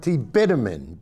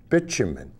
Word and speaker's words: bitumen: called bitumen i know kurt says it's with a hard t-bitumen but really you're going to see that most people pronounce it bitumen actually when i when